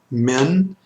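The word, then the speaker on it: מִן: the next one is men and remember the Urich here is the short I sound that in Hebrews the short I sound and it's going to be similar to the in lid lid so that men men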